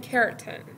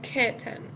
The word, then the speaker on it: curtain: به این نوع پرده میگن curtain، که حالا بریتیش، توی تلفظ بریتیش میگن curtain، ولی حالا تو امریکن ممکنه آر رو، یعنی معمولا آر رو حذف میکنم، میگن curtain.